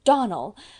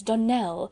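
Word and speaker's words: Donnell: "Clarice Almira told me that you pronounced our name Donald. Now, Miss Shirley, the correct pronunciation of our name is Donell, accent on the last syllable.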